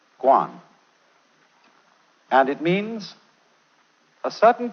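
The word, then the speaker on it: 觀: that means seeing and the whole character is pronounced Guan and it means a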